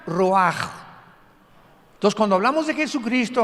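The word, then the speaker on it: רוח: 29 es la palabra se escribe ruach como suena con r de Raúl ch al final rach y se pronuncia raj Entonces cuando hablamos de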